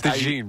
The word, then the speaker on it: DeJean: It's DeJean, bro. It's not that hard. This is how you say DeJean. You say Dijon mustard for a couple of plays.